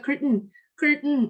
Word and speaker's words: curtain: Oke, lalu ada juga curtain atau curtain, bukan curtain, tapi curtain dari ditahan gitu ya. Atau kalau bilang curtain juga nggak apa-apa, curtain, pokoknya bukan tain tapi cen, dibacanya cen, aneh ya.